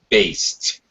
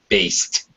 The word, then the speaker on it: based: Market Research one syllable based when you have a b yeah that here the Ed has that t sound based based that's it after unvoiced